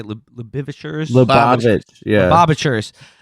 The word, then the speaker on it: Lubavitch: Lubavitch, yeah.